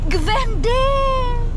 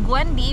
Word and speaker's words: Gwendy: to me and say gend gend they don't know how to pronounce my name in instead of gwendy because that's my real name not Gwen they Pronounce W or